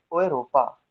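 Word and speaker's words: Europa: ओएरोपा।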